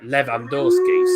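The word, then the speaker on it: Lewandowski: no levy is uh it's l-e-w-y but it's um pronounced river v in poland so levandorski so that's why everyone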